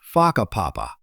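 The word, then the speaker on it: Whakapapa: You'll hear locals casually talking about places like Faka Papa, pronounced Faka Papa.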